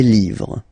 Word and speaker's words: livres: Les, and then same rule, you just write livre, and then you put S at the end, but then you don't pronounce it. Les livres.